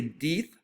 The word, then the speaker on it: death: We don't say death. This word, the pronunciation has changed. We just say short E, death, deaths.